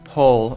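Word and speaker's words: poll: It's pole. It's pronounced pole, and it's spelled with double L, not double O.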